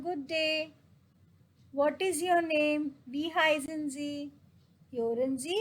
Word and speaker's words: Name: Name. It's the spelling is same, but with the pronunciation we say it Name.